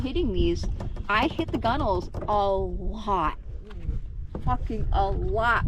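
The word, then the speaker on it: gunwale: It's spelled nothing like it sounds. Well, it starts out like it sounds. It's like gun whale. Yes. That's how it's spelled, is gun whale.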